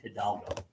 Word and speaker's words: Hidalgo: It's Hidalgo.